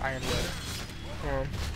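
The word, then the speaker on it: Yronwood: Oh, by the way, it's spelled Euronwood, it's pronounced Ironwood.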